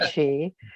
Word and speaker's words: Chi: But if you go back and look at our past programs and look for his name, his last name is spelled in English CHI, like Kai, but it's Ed Chi.